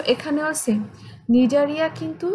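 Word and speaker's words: Cnidaria: আচ্ছা, নিডারিয়া যদিও আমরা উচ্চারণ করি নিডারিয়া, বাট বানান কিন্তু প্রথমে সি দিয়ে শুরু হবে।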